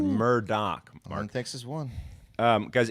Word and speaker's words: Murdaugh: pronounced Murdoch.